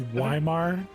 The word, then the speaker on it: Weimar: uh eight of you say his name was Weimar Weimer okay just checking yes room for eight it's like Slimer three four five six